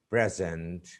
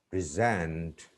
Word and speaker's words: present: When we use some words as nouns or adjectives, the stress is on the first syllable. But when they are used as verbs, the stress is put on the second syllable.